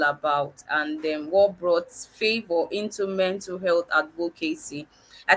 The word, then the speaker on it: Favour: I hope I pronounced your name very well today. I hope I said it right. You prefer Favor, right?